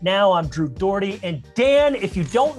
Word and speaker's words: Dougherty: seen the spelling of my last name sometimes it's a little tough to pronounce don't worry if you've called it doherty dorky dardy daughtry dirgitty i've heard it all so dan flores aka